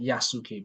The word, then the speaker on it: Yasuke: It is spelled Yasuke, but it's actually pronounced Yasuke.